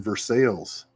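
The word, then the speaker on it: Versailles: down the road ways you'll be in versales I love I love living in Kentucky uh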